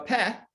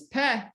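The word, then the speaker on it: פ: pay mean so a pet is a map or an opening so here we have it the name is pe pe it makes a p sound if sometimes it's it's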